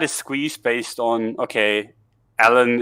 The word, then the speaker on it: Elon: squeeze based on okay ellen it's just uh gigaflourish ellen is like that is the tv show you know ellen the whatever yeah that's basically how you say it yeah um but